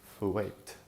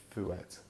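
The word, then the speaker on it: fuet: This is called fouet, or fouet. It's spelled F-U-E-T, and it's a very firm, supposedly very nice chorizo that's kind of native to that part of Spain.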